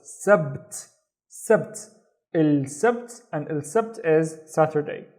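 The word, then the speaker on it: السبت: ba with no vowel, so it's sabt, sabt, il sabt, and il sabt is Saturday, il sabt.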